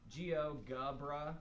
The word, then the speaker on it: GeoGebra: you're in Chrome and you search geogebra Geo GA it normally pops up Geo gubra most people are like